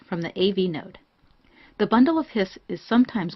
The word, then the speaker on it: bundle of His: conducting tissue called the bundle of hiss this looks like it would be pronounced bundle of his but it's actually pronounced hiss as in the hiss of a snake because it's named after